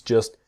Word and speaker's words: just: be so complicated things just shouldn't be so complicated and things just shouldn't be so the T in just is silent and the T in shouldn't silent things just shouldn't be